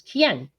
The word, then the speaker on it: Quien: my last name so my last name is kien which is kind of weird to look at it which is like you know it's weirdly pronounced that way it's spanish so um what we